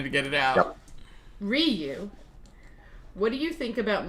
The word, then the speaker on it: Ryu: Ryu, by the way, if it's spelled like the fighters from Street Fighter, it's Ryu. Yeah, it's in Japanese it would actually be pronounced Ryu.